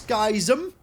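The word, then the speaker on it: Schism: a preacher of dis skism cuz that is how you pronounce it is dis skis him that is right that is 100% right okay so what are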